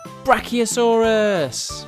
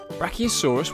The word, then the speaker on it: brachiosaurus: let's learn all about brachiosaurus how do you say that again bra oh saw russ do you know how